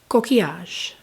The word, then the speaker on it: Coquillage: the shade um so I did look up how it's pronounced write really quick uh roses kiage is what it said it was pronounced and just FYI I